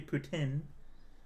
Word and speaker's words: poutine: If you're asking for poutine, or if you're from the snobbish Quebec part of the country, poutine. They don't pronounce it with the E at the end.